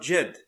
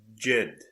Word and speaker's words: Djed: and they are creating jed apparently the d is silent and let's go see